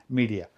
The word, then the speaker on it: Midea: a Chinese company media I'll pronounce it that way I've heard other people pronounce it different ways and I heard Chinese people pronounce it media so I'll just go with media a lot of people